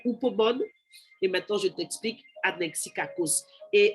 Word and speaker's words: anexikakos: Eh bien, anexikakos, ça s'écrit A-N-E-X-I-K-A-K-O-S, comme on l'entend. Ça s'écrit comme ça s'entend. Anexikakos, avec le X et les K.